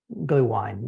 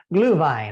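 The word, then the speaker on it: Glühwein: of glue wine on glue wine that's not how you say it Glu Vine I got to get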